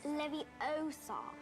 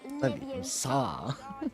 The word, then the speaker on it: Leviosa: You're going to take someone's Besides, you're saying it wrong. It's Leviosa, not Leviosa.